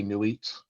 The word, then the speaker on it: Nuit: all of Nuit or Nuit, however you want to pronounce that. Your mileage may vary there as well. I've recently been reading a lot of people that say Nuit like not, like N-A-U-G-H-T.